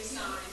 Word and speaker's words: sine: So sine, it looks like sin. It's spelled the same way, but we say sine.